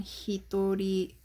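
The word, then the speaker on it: 一人: meaning usually but so we have potential pronunciations for this guy hito jing ning and then hitori as special readings next one for child a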